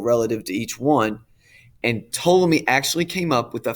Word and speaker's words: Ptolemy: bc to 100 a.d ptolemy silent p ptolemy is the first guy